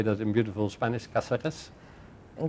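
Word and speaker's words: Cáceres: We have visited Urbaser in, how do you say that in beautiful Spanish, Caceres? In Caceres, yeah.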